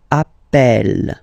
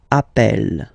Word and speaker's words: appelle: So when you get this E vowel, and then you get a double consonant, and well, they are the same, then it does change the pronunciation of E. You tend to pronounce it like E, E, really open. That's the reason why you pronounce it appel, appel, okay?